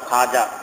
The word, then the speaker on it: খাজা: এটা ওয়াবে মাদুলা এজন্য এটা পড়া যায় না বলতে হয় খাজা খোয়াজা বলা যাবে না খাজা খাজা মানে মালিক